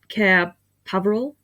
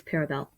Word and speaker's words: Paravel: but like care paravel he pronounces this cabral but no it's parabel anyway i think that's